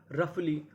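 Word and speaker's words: roughly: Laughter, कफ, रफली, daughter, टफ, थ्रू। यानी कुछ जगह हमें यूजीएच का उच्चारण करना होता है और कुछ जगह ये हमारा साइलेंट रहता है।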